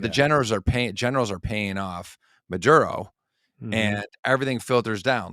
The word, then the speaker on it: Maduro: Yeah, Nicolas Maduro. Since he came into power, he's kind of assumed the position of being the top narco and overseeing the generals. But the generals are paying off Maduro, and everything filters down.